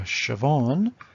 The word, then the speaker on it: Siobhan: maggie simpson two trookies if you have a two-syllable name yourself try it with yours if you're a siobhan it's an i am okay if you're a